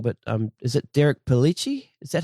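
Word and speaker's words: Derek Pellicci: is um correct me if I say his name wrong but um is it Derek pelich is that how you say his name that's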